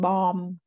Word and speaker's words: bomb: B is silent in all words that end in MB, like tum, num, bomb.